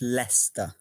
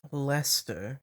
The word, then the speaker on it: Leicester: It's pronounced Leicester. Why are there so many consonants in there? I have no idea. Fair enough. Lester.